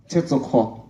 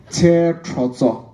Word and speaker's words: Tetrozo: Azeni Tetsoko. Tetrozo. Alright, I mispronounced his name earlier. It's Tetrozo.